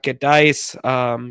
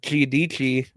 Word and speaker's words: Giudici: They got Gedice, or Giudici, I believe is actually how it's pronounced because it's Italian.